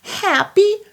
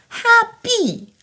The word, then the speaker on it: Happy: Happy Christmas, c'est le i long. Happy Happy Christmas. Le I se dit simplement comme le i français.